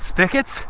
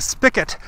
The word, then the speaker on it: spigot: watching and you don't even know they're called spigots so i laughed and i said to my